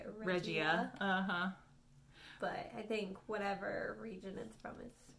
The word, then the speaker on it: Regia: And Sue of the Yarn Maven told me that it is actually pronounced Regia, not Regia, which is how I was saying it before.